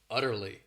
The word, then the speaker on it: utterly: great adverb uh Turley this word has three syllables and the stress is on that first syllable utterly it means completely totally